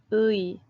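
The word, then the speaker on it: 의: that little character that that letter you say you pronounce actually both individual sounds LOUIE LOUIE LOUIE so with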